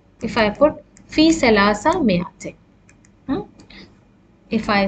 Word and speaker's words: مئة: It has an alif, but we say مئة. We don't pronounce it مئة.